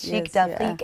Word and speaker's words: Chic d'Afrique: Yes, Chic d'Afrique, and that is your company, but you're working with beading. Can you please tell us about Chic d'Afrique? Let's start there. Most definitely. Good morning, everybody. Chic d'Afrique is basically Afrocentric pieces that we make.